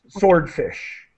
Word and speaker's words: swordfish: great and just uh the w in sword is silent we do not pronounce the w sword swordfish okay and people are